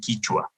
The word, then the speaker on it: Quichua: And we have a different pronunciation. In Peru, it's called Quechua. In Ecuador, it's called Quichua.